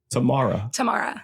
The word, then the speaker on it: Tamara: Tamara.